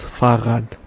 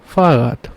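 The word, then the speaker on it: Fahrrad: say bike in German this one called thus farat thus farat and one more important thing that you have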